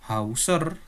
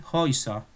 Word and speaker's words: Häuser: Nah, A umlaut sama U itu cara pelafalannya sama dengan EU. Jadi bukan Hauser tetapi Häuser.